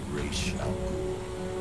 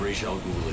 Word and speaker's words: Ra's al Ghul: His name is Ra's al Ghul.